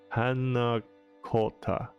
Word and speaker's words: panna cotta: The Italian phrase panna cotta is pronounced panna cotta.